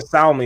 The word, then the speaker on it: salmon: Just I like saying salmon, even though I say salmon in my head. I say salmon just because it's fun. Oh no. Salmon. It sounds poisonous now. The L is silent.